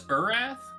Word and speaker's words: Urath: Is this Urath? It's pronounced Earth.